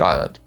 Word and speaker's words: island: A scholar decided it must come from the Latin insula, so he put an S in there. It doesn't come from insula. It's an Old English word that never had an S in its life, but the S stayed and kids today lose